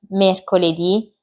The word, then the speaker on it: mercoledì: I giorni della settimana sono lunedì, martedì, mercoledì, giovedì, venerdì, sabato, domenica. I primi cinque hanno l'accento sulla i finale, sono tutti maschili, tranne la domenica e si scrivono tutti con la lettera minuscola.